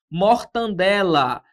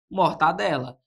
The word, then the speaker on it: mortadela: Por exemplo, ó, mortandela. Esse N aqui ele não existe na palavra original. Como que se pronuncia então, professor? Morta. Mortadela. Seria o modo correto de se pronunciar essa palavra.